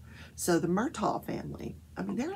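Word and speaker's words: Murdaugh: murtaugh family and in south carolina that is pronounced murtaugh so the murtaugh family i mean they're like the kennedys of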